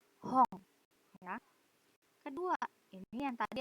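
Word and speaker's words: 本: Nah, tulisannya H-O-N. N di belakang dibacanya ang. Hong.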